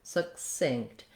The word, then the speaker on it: succinct: be short it's going to have a reduced vowel in this case it's vowel schwa it sounds like uh so we're going to have just a little suck suck almost no vowel there succinct another thing to note is that um for some of the stop sounds in this word this first k sound sound and this t sound we're not going to release those sounds so i'm not necessarily